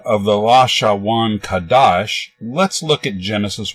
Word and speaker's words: Lashawan Qadash: and nothing nothing outside they call this alphabet the la sha Wan Kadosh which is their pronunciation of Hebrew phrase lost shown kodesh meaning holy tongue or holy language to illustrate their pronunciation